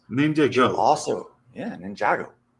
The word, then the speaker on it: Ninjago: also, Ninjago. It's called Ninjago. Yeah. It's called Ninjago. Yeah. That's how we pronounce it here.